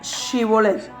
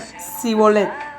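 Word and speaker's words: שיבולת: como la palabra era Shibolet o Shebolet. Está escrito que si no podían pronunciarla, en su defecto decían Sibolet, y se les reconocía como que pertenecía a una rama enemiga y se los asesinaba.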